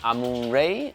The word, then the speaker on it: Amun-Re: about is a game Amun Ray Amun ra no matter how you want to pronounce it this is how it